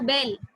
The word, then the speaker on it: bel: Yes, bell is pronounced like bell, only the spellings are different, Vijay.